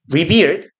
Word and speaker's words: revere: 그래서 그 발음은 리비어라고 하시면 돼요. 발음 기호를 쓰면 못 읽기 때문에 발음 기호를 써드리면 요렇게 씁니다. revere예요. revere이라고 읽고요. 리버처럼 생겼잖아.